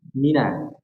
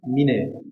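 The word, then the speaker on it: مِنَ: Cara bacanya lebih apa namanya? Konsisten dalam harokat ya. Dijelaskan harokatnya. Mina. Nah, seperti itu. Nah, orang pun bisa memberi mine, mina.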